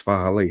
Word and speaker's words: Faalele: Cause that's how you say it. It's Faalele. Hey, it's not Faalele. It's Faalele. That's why it's 2 A's.